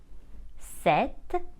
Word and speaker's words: sept: we pronounce it Sis the number seven is spelled s e p t but we don't pronounce the p and we say set number eight is spelled